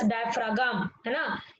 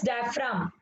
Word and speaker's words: diaphragm: It is not pronounced as diaphragm. It is diaphragm. G is silent over here.